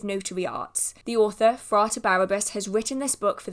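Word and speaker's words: Barrabbas: Now, as mentioned, this is by Frate Barabbas. I've noticed in previous videos I've been saying Barbarous, so there's a second B in there.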